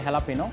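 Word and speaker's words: jalapeño: আমাদের রেস্টুরেন্টের নাম হচ্ছে হেলাপিনো মানে বেসিক্যালি এটাকে সবাই জেলাপিনো নামে চিনে বাট একচুয়াল মেক্সিকান ওয়ার্ল্ড এবং প্রোনাউন্সিয়েশন এটা হচ্ছে হেলাপিনো আর আমাদের রেস্টুরেন্টের বেসিক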